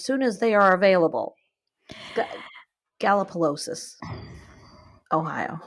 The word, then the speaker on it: Gallipolis: Gallipolis, Ohio. Sorry, I mispronounced that. I say Gallipolis.